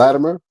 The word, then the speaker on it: Latimer: Latimer, which is where you say Latimer. I say it with a it almost sound like a D.